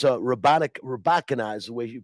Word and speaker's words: Rybakina: I don't know if you watched the women's final yesterday, but Elena, I believe it's Rybakina is the way you pronounce her name.